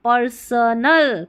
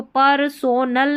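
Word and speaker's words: personal: स एन एल नल पर्सनल पर्सनल अब इसको परसोनल नहीं पढ़ना है पर्सनल एंड प्रो इसको प्रो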